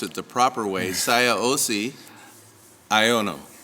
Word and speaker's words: Siaosi Aiono: So, Mr., and I'm going to pronounce it the proper way, Siaosi, Aiono, correct?